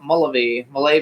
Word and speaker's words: Mullavey: Now we're going to bring out our next guest, who is Greg Mullavey. I think is how we pronounce it. Mullavey. Hello. Mullavey it is. It's Irish.